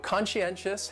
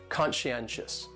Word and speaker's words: conscientious: So conscientious has 4 syllables, and the stress is on that third syllable, that N, conscientious, conscientious. That second syllable is what really confuses people because that SCI almost sounds like you're saying she.